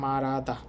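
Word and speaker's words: 말하다: রিউলের পর হিউত থাকলে রিউলটা হিউতের স্থানে চলে যায়, আমরা জানি। তো এই শব্দের উচ্চারণ হবে মারাদা।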